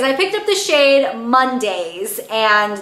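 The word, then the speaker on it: Mondaze: But anyways, I picked up the shade Mondays, and the way it's spelled is like M-O-N-D-A-Z-E, like days. I think that's really funny.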